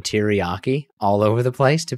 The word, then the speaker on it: teriyaki: Mustard, guacamole, Caesar dressing, sugar, olive oil, mayonnaise, teriyaki, and sweet and sour sauce.